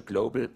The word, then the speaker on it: global: this one right here there are two ways to pronounce the L in English the light L which is uh like